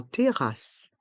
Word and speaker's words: terrasse: sal en sal en terrasse en terrace ici encore la fin du mot terrasse les les deux s restent en suspend TACE en TACE en